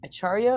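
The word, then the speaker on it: ācārya: as the achar acharya is that how you say it again C is pronounced CH okay acharya of the Holy Name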